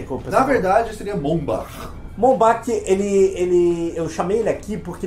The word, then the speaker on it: Bombach: A pronúncia correta? Por quê? Como Na verdade, seria Bombach. Bombach, eu chamei ele aqui porque ele acho que